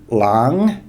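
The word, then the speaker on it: หลัง: means uh after so once again we've got the silent whall Heap which just gives this word a high class initial consonant uh live syllable so it's got Rising tone Lang after ahan which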